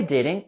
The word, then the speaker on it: didn't: Sorry, I didn't catch that. The word didn't is the contraction form for did not. Didn't. And in this case, we can also not pronounce the T at the end of didn't.